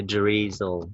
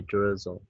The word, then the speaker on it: drizzle: Don't forget to pronounce the letter I like A or U in Vietnamese. Like drizzle, drizzle, drizzle. We don't say drizzle, okay? We say drizzle.